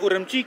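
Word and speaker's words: Ürümqi: It is written 'Urümqi' but it is pronounced 'Urümchi' Q is read as 'Chi' in Chinese.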